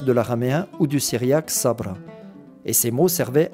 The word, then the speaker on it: Sabra: Ce mot le plus souvent prononcé Sabra, on est venu à